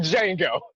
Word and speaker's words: Django: I'm like Django. The D is silent.